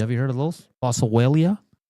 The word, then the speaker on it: Boswellia: Boswellia. Oh, how do you spell it? B O S W E L L I A Bosellia.